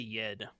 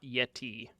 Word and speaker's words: Yed: No, Yed, not Yeti. Y-E-D.